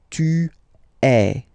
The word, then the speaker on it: tu es: Okay, but then basically the sound you will pronounce or you will produce is est. Okay, tu es.